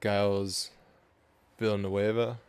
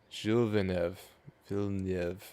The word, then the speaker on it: Gilles Villeneuve: But he's going through second chicane is Giles Villanueva. If Oh I my God, pronounce no. that correct? Not even close. God, all right. Gilles. All right. Gilles Mhm. Villeneuve. Gilles Villeneuve.